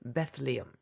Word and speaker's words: Bethlehem: 베들레헴 영어 발음이 Bethlehem.